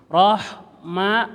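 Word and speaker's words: رحمة: roh suaranya doang roh ittinya H kecil H kecil mati rah ma mimnya rapatkan dulu baru diucapkan rah ma jangan roh a memang mim Bibirnya di bibir dua kalau melafazkan mim bibir ngejebeng enggak bisa Suhaimi enggak bisa harus Rahma gitu ya dirapatkan dulu usahakan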